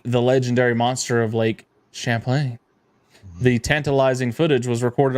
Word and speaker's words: Champlain: is that how you say it yeah Champlain Champlain monster spotted on Sonar actually I think it's Lake Champlain Champlain yeah it's a little bit more um